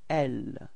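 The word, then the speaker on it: elle: it's repeat okay and The Feminine form it's l repeat L okay and then first person of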